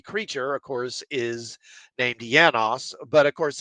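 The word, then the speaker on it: János: of course is named yanos but of course it's the first letter is J so I think in Hungarian it would be yanos but in English you might actually pronounce it Janos and of course Janos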